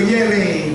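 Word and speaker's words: Yerres: So nag-train po ako from Paris to Yere. They pronounce it Yere, but spelled as Y-E-R-R-E-S-S, Yeres. Pero sa nila, Yere.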